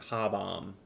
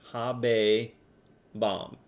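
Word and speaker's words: habebam: imperfects a right so don't be afraid of having those two syllables with the b in them don't you know don't give me like ha bomb right it's habe bomb habe my favorite um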